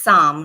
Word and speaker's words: Saam: Yeah, well, it's Saam, right? Saam, am I saying it correctly? Yes. Okay. Yes, that's correct.